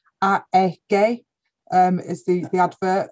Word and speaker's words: AEG: recent tv advertising campaign we've gone right back to our german heritage so that they actually pronounce it they're doing a bit of a test at the moment so it's a gay um is the the